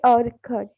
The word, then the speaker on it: Urquhart: Say again. Frederick A. Urquhart. You heard. All this is silent.